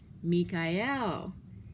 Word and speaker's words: Michael: is M I CH AE L but it's pronounced meek IL meek i L he is the meek one